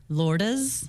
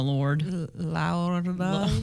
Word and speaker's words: Lourdes: Lourdes. Lourdes. I guess I pronounced the S in Spanish. Yeah. Like French me keeps calling her Lord.